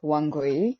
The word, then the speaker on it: Wangoi: So yeah, you are pronouncing it right. It's Wangoi.